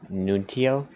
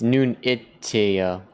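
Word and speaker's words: Nunito: Um, nunio. Oh, that's not even how it's said, guys. It's nunitio. Nonitio.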